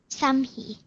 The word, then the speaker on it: Samhi: Samhi.